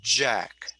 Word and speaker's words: Jack: So you would say this sound is j, j, j. So you're using your larynx, you're using your voice, j. Yeah. And if that's the way you say my name, you say Jack.